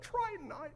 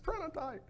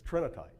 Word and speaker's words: trinitite: this stuff, you're like, tritonite, no, it's trinitite. You did. No, I cheered you, Randall. You did correct him. He didn't just pop up saying it right. You got him right. So it's trinitite.